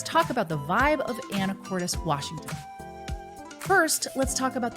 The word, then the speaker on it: Anacortes: and I'm a real estate expert here in anoris and that's how it's actually pronounced and I help buyers buy homes and sellers sell homes here and today we are covering the vibe of anoris Washington so as we cover the vibe of